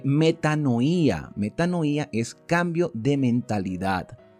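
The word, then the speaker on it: μετάνοια: Por cierto, que esta palabra arrepentimiento, que se utiliza mucho en el Nuevo Testamento, es extraída de una palabra griega que se pronuncia eh metanoía.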